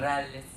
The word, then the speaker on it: Bareilles: Bareilles.